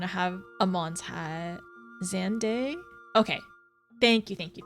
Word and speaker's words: Xande: Xandday. Okay. Thank you. Thank you. Thank you. I'll write that down. Xande.